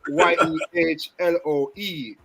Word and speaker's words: Yehloe: So it has nothing to do with any colors. Yehloe.